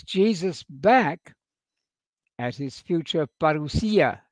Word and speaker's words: parousia: back at his future parousia. I'm using the Greek word for the second coming there, using the modern Greek pronunciation because our Greek friends like that.